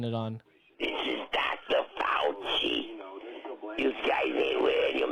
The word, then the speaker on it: Fauci: Oh, it does his name rhyme with ouchie? Yeah. Yeah, Yeah, I think I know who it is. Ouchie? I keep forgetting it's Fauci, but I keep saying Fauco Marx.